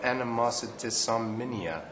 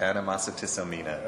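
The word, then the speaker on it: Animositisomnia: Anyway, it's called Animositissomnia, I believe. Is that correct? You put an extra syllable in there, yes. Okay. Animositissomnia.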